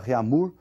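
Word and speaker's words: Réaumur: escala francesa aí que a escala reamur que nós vamos pronunciar reamur aqui aportuguesado de novo e essa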